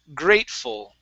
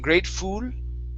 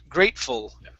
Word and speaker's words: grateful: last one here is grateful now here instead of saying grateful with an o sound it's grateful grateful grateful yeah good one more